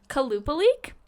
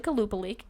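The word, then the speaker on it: Qalupalik: told me it's pronounced kalupa leak but it's spelled like with a Q so it's like it looks like it's supposed to be like but it's actually kalupa leak I like that so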